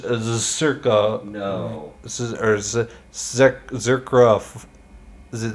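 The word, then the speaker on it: Czerka: mean Benjamin the circus Circo Corporation you see how it's spelled like c-z-e-r-k-a yeah so um in in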